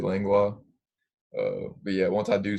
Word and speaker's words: Langlois: I always tell them Langwa. That's how you would pronounce it, Langlois.